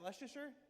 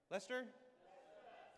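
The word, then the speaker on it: Leicester: How do you say? Is that Leer? Lester. Lester, mate.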